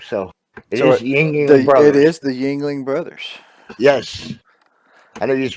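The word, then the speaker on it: Yuengling: you like that jingling how do you pronounce that Yingling is that right yes Yingling but I think those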